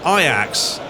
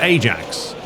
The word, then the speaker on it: Ajax: that it's funny cuz if you live in America Ajax they pronounce it Ajax so if if uh